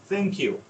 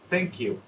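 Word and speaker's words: thank you: থিঙ্ক, মানে কিরকম সাউন্ডটা, আপনার জিভের যে ব্লেডটা সামনের অংশটা, এটা উপরে দাঁতের যে ব্লেড এখানে, হ্যাঁ, আলতো করে জাল যেভাবে উচ্চারণ হয়, থ্যাংক ইউ, থ্যাংক ইউ, আমরা বলি থ্যাংক ইউ।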